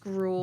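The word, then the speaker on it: Gruul: Uh, gr I think I I think it's just grl. Grl. There's a elongated U.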